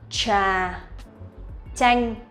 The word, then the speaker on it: trà chanh: Trà chanh. So it's like ch for TR and ch for TH. This is how we pronounce these two sounds correctly, but in spoken